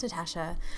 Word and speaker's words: Natasha: guys, it's Natasha, pronounced Natasha.